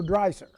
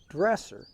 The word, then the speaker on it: Dresser: and I know that the now do you pronounce it dresser or dry sir dresser now dresser is uh the German and of